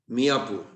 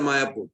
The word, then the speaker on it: Mayapur: Was not a Mayapur. Bhaktivinoda Thakur had a doubt. Then he traced it and he found it is Mayapur, but they cannot pronounce properly because Yogamaya covers. They used to call Miyapur.